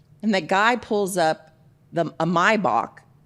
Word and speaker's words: Maybach: Because they say Maybach teenically isn't correct. So, I'm just going with Maybach.